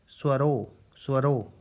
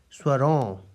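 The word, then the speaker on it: स्वरों: For example, without this dot, it is pronounced as swaro, which has no meaning in Hindi language. So for making it meaningful, that is its correct pronunciation as swaron, to produce last on sound, oh, it is necessary to put this dot here.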